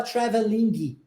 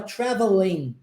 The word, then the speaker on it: traveling: importante você lembrar que quando nós tivermos esse ing no final de uma palavra a gente não vai pronunciar o g tá por isso que a gente não fala traveling ok a gente fala traveling e para no n traveling Ok traveling